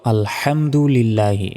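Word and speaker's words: الحمد لله: অর্থ হবে আল্লাহ ধ্বংস হওয়া নাউজুবিল্লাহ মূলত এখানে উচ্চারণ হবে আলহামদুলিল্লাহি যার অর্থ যাবতীয় প্রশংসা আল্লাহ তাআলার সেই কারণে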